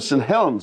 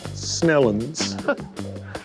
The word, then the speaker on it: Saint Helens: a little town called saint helens where a man is building me a boat local pronunciation snellens like snails okay it's exciting because